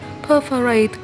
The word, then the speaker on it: perforate: Vừa rồi trong phần 2 thì mình đọc từ này chưa chính xác lắm. Mình xin đọc lại từ này cho chính xác là perforate nhé, nhấn âm 1.